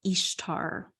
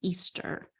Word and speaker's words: Ishtar: is the spouse of Ishtar pronounced Easter tamus would sacrifice his